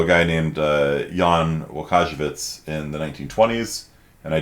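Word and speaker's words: Łukasiewicz: had absolutely no idea how to do the pronounce the l with a little slash through it um yeah so jan uh kajabits in the 1920s um figured out that even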